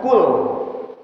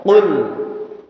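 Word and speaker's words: قُلْ: baik ya Ee sebentar bukan kul kalau kita mengucapkan kul artinya Makanlah di sini Katakanlah wahai Muhammad jadi bukan p tapi huruf qof ya Qul Qi qu baqo ya punya sifat qolqalah jadi pengucapannya tidak Qul tapi Qul di sini ada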